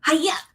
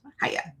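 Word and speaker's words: Heye: you have to like pretend you're doing karate and you have to go hya and that's how you pronounce the brand haya now you know in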